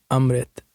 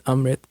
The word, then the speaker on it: Amrit: Actually, Amrit. That's how you pronounce it in Punjabi. It's Amrit.